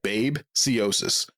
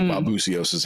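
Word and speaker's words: babesiosis: It looks like babiosis but it's like babusiosis how it's pronounced.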